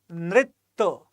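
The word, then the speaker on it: नृत्य: Once again, the Sanskrit pronunciation is quite essential to understand the difference. It is simply Nritya.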